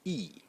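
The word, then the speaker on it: 亿: So again, Chinese have one word for 100 million, and it's pronounced E. E.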